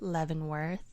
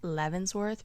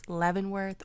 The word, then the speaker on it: Leavenworth: I learned how to pronounce it. I kept saying it Levvensworth because my my boyfriend again was saying it in the British accent and I just got it stuck in my head, but it's Levvenworth, Washington.